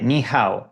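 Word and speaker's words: 你好: Vale, niha, lo estoy pronunciando bien. Sí, suena bastante bien. Ni se pronuncia más o menos así con un tono ligeramente descendente en ni y luego un tono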